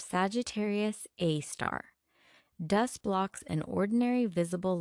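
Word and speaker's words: Sagittarius A*: The compact radio source is called Sagittarius A, pronounced Sagittarius A star.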